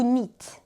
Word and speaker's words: knit: personnes anglophones, eh bien, tricoter se dit to knit. Ça s'écrit avec un K, on ne le prononce pas.